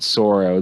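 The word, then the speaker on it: Tsuro: both are out called Soro the t is silent uh TS URL I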